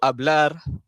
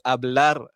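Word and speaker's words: hablar: Ha dia bukan abla bukan. Ha bukan abla kamina ataupun est bukan. Dia kena sebut ablar, kaminar, estar. Okey. R tu kena bunyi.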